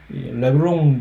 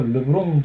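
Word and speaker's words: LeBron: 또 즐기는 친구들이 있어갖고서 레브롱 제임스 얼핏 보면은 이거 발음하게 이게 앞에 르처럼 돼 있으니까 르브롱 제임스라고 발음해야 될 것 같죠. 절대 그렇지 않습니다. 미국의 그 어느 지역을 가도 그 누구한테 물어봐도 레브롱은 레브롱 제임스입니다.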